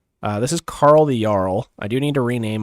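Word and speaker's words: Jarl: So, here uh this is Carl the Yarl. I do need to rename him because apparently Yarl is spelled with a J.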